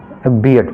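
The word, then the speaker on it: beard: ठीक है, आर जो इसमें रहता है आमतौर पर साइलेंट होता है, तो इसको हम पढ़ेंगे बियर्ड पढ़ेंगे।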